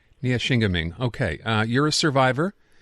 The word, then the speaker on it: Neyaashiinigmiing: Uh, can you pronounce the territory in Ontario you are from, Jennifer? Uh, Nia Shingaming, Ontario. Nia Shingaming.